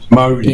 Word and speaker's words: Māori: Māori. M-A-U. Mo, as in Mo Greens? Māori. Mo. Yeah, Mo Greens. Yeah, there we go. Māori.